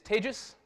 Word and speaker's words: Tejas: the organizers deserve absolutely my name is Paige's that's pronounced like contagious I I'm I'm not